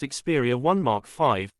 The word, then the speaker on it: Xperia 1 V: channel for future updates the Sony Xperia 1 volt pronounced xeria 1 Mark 5 was released in the